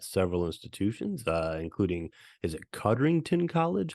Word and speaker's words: Codrington College: He has taught courses on the New Testament at several institutions, including, is it Codrington College? How do you pronounce that name? Yes, Codrington College.